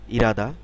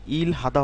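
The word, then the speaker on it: 일하다: কাম আসা এরপরে হচ্ছে ইরাদা ইরাদা শব্দের অর্থ হচ্ছে টু ওয়ার্ক কাজ করা এখানে খেয়াল করুন ইলহাদা হওয়ার কথা ছিল উচ্চারণটা কিন্তু এখানে এরকম উচ্চারণ হবে ইরাদা ইরাদা শব্দের অর্থ হচ্ছে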